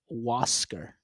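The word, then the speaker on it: Huascar: I looked up his name, how to say it on baseball reference, and it's Waser.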